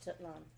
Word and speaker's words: Tenochtitlan: Tenochtitlan Tenochtitlan, okay.